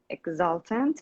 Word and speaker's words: exultant: You would also hear people pronouncing it like exultant. No T or no D. We just replace it with a We just replace it with a schwa. Exultant. Exultant. Exactly, exultant. We call that sound glottal stop or stop T, which is really common in British English and also American English.